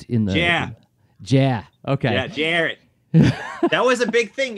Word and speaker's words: Jarrett: understand that, you know, my name pronounced by my grandparents in Worcester would be Jarrett. So Yeah. So folks from the West Coast thought it was.